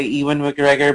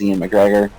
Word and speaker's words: Ewan McGregor: mcgregor yeah sorry i i always try to say ewin mcgregor but it sometimes just comes out as ian mcgregor ew and mcgregor just me being phonetically lazy that's fine i understand